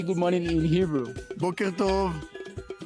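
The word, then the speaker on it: בוקר טוב: Boker Tov.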